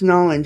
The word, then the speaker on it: New Orleans: It's Nolans, y'all.